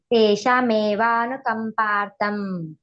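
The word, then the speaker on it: ತೇಷಾಮೇವಾನುಕಂಪಾರ್ಥಮ್: ನೋಡಿ ಇದೆಯೇ ಸಾರಿ ತೇಶಮೇವಾನುಕಂಪಾರ್ಥಂ ಸರಿ ಇದೆ ತೇಶ ತೇಶಮೇವಾನುಕಂಪಾರ್ಥಂ ಪ ದೊಡ್ಡದಿದೆ ಮಹಾಪ್ರಾಣ ಕಂಪಾರ್ಥಂ ಅಲ್ಲಿ ಒತ್ತಿ ಉಚ್ಚಾರಣೆ ಮಾಡುವ ಹಾಗೆ ಪ್ರಾಕ್ಟೀಸ್ ಮಾಡಕೊಳ್ಳಿ ನೀವು ಅಂದ್ರೆ ವ್ಯತ್ಯಾಸ ಮಾಡಲ್ಲ ದೊಡ್ಡ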